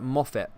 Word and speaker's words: Moffat: moffat is jane kinky his name is pronounced as a moffitt okay there's a lot